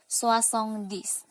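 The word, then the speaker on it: soixante-dix: Ya, cara pengucapannya sengkong. Lanjut 60 ada soissong. Soissong, ya. 70 soissong-dix.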